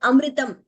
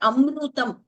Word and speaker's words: amritam: Okay, like amritam, exactly like that. It is not amrutam. That is not the right pronunciation. Amritam. There is no dvitvam also there. Please note. It's not amrutam.